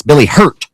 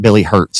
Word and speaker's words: Billy Hurt: It's Billy Hurt, not Billy Hurts.